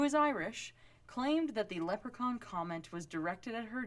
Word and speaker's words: leprechaun: told me this story she mispronounced leprechaun as leper chons of pretty much every single time I don't know what